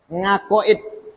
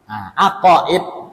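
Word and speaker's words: عقائد: Ini logat Jawa nih ya. Bahasa Arabnya aqaid. Kalau orang Jawa baca ain gimana? Ngeh. Alhamdulillahi Rabbil ngalamin. Orang Jawa enak. Ain itu dibaca oleh orang Jawa ngeh.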